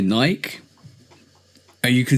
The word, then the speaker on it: Nike: So we say Nike, which is fine. It's like Mike, bike, tyke, like. Exactly.